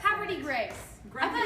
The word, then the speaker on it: Havre de Grace: I would say this is havre de grace. You would, but it's, you would. That's the it's way it's spelled. very down home. It's more like Havre de Grace.